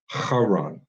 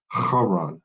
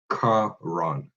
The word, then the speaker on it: Haran: It's supposed to be Haran, not Karan.